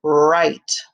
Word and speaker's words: write: what also has the same beginning sound 22 right w-r-i-t-e right so we have ren and right